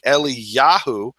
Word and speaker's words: Eliyahu: pre- tonal shortening and a name like eliyahu the emphasis is on the syllable with the um kamat Eli yahu and my name properly